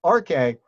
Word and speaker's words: arche: And so we pronounce that arche.